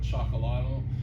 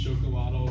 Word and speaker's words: Xocolatl: gone back and forth we've changed the pronunciation slightly we originally were kind of chocolato now we're trying to get in more just chocolate which is maybe a little bit more correct pronunciation it comes from the